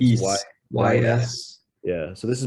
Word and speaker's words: Ys: East is how you pronounce it. It's East.